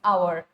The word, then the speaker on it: hour: can say it is hour it's a silent thing there isn't it but we all have a tendency to pronounce the h which is not needed isn't it uh then